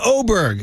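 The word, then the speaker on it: Åberg: Okay, and then finally, Ludwig Oberg. It's spelled A-B-E-R-G, but it's pronounced O-B-E-R-G, so that's Chris Vernon's final riff here.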